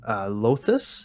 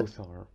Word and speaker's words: Lothar: I joined Lothus. Is that how you pronounce it? Lothar, actually.